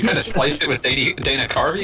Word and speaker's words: Carvey: Yeah, you kind of spliced it with Dana Carvey. Dana Carvey, yeah.